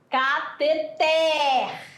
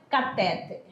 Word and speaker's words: cateter: O correto é falar cateter por ela é oxítona e não é catéter Tá bom então presta